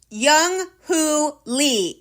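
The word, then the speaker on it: Jung Hoo Lee: for Lefty like Eduardo write this one down Young Who Lee it's spelled ju u n g h o o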